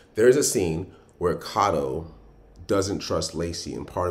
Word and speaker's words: Kato: why uh pronounced differently like this one would typically be called cato but it's kato it means um the